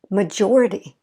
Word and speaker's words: majority: stress history historic okay major first stress is on the first syllable major we fall in our voice i don't if you notice major and then if we're going to add ity majority majority so hopefully you see